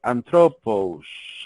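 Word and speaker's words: ἄνθρωπος: La antropología viene del griego antropos. Es antropos, así, antropos, que en griego significa hombre.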